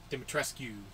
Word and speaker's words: Dimitrescu: that's right i finally figured out how to pronounce her name dimitrescu that's demonstrating david tresska rescue no they they